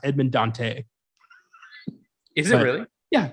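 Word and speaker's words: Edmond Dantès: My favorite thing is that the character is supposed to be pronounced Edmond Dante. Is it really? Yeah, it's not Dantes, but nobody told Kevin Reynolds and he just rolled with it.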